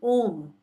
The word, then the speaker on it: Om: So what be the correct style of See, Om has three alphabets. yes, Okay? yes, A, U, and Ma. correct. So when you're saying Om, I will show it how it's supposed to be pronounced.